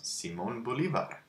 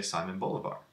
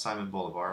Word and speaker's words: Simón Bolívar: That's how you pronounce Simón Bolívar. In English, we would just say Simon Bolivar.